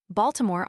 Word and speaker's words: Baltimore: Baltimore offers an example. The natives always drop the medial i and so reduce the name to two syllables.